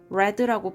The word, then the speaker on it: read: 원형은 read지만 과거나 과거 분사일 때는 read라고 발음해야 되니까 I've read라고 읽는 거 조심해야 돼요.